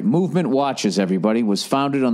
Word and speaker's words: MVMT: this week all right mvmt watches everybody pronounced movement oh that's what I'm supposed to say all right movement watches everybody was founded